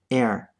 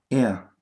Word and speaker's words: er: Note that the pronunciation of this word is close to the British pronunciation of the word er, er. The R at the end is not pronounced.